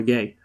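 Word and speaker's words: Gueye: is it yeah because there's a footballer who also played for everything called garner gay and it's pronounced it's pronounced gay right i'm sure of it anyway i believe you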